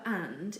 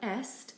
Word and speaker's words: est: the French word for and is pronounced a not at it's simply a the verb is such as he is and she is it does look like esthe but it's actually also pronounced a for example la tène